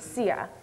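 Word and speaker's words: txiag: the third M phrase spelled TX i a g but pronounced CIA what is the meaning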